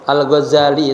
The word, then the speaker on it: Ghazali: Bitakfif zayi watasdidiha. Bacanya Alghazali itu ditakhfifkan zainya. Za tuh ya bukan do watasdid. Kemudian dikasih siddah algza. Kemudian tal ula yang pertamanya nisbatun ila ghazala.